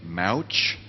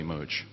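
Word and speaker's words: Mouch: movie of atlas shrugged they chose to pronounce his name mauch i i just don't get that i mean when i read atlas shrugged for the first time in high school it was definitely moj okay so it's always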